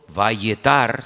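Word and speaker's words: וַיֶּעְתַּר: Se escribe igual, pero las vocales se ponen diferentes.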